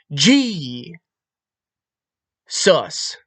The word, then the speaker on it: Jesus: G. Sus. G. The J is pronounced as a G.